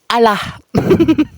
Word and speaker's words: Allah: berubah jadi allahah sahabat tulisannya adalah a l l a h Tapi bacanya jadi alah Astagfirullahalazim inilah kumpulan-kumpulan orang